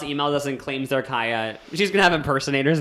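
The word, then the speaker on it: Kaia: How do you spell it? Kaya. K-A-I-A. Kaya.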